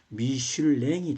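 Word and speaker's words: Michelin: 두 형제가 만들었다 겁니다 미쉐린이라고 영어식으로 발음을 하는데 프랑스식으로 발음하면 미슐랭이 되겠습니다 미슐랭 형제가 돼요 그래서요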